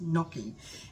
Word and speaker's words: gnocchi: sister called me and told me about this gnocchi that she had made up um spelled g-n-o something something looks like gnocchi but it's pronounced knocking and it is like a potato pasta why